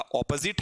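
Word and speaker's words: opposite: अभी टॉपिक शुरू नहीं किया है, फिर मैं आपको बताना चाहूंगा, इस वर्ड का प्रोनाउंसिएशन ऑपोजिट है, ऑपोजिट है, ठीक है, और इसका प्रोनाउंसिएशन एपोजिट है।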